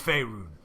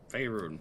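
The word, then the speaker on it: Faerûn: Well, I'll tell you that in a second, but it is Faerun. Yes, Faerun, that's where we are.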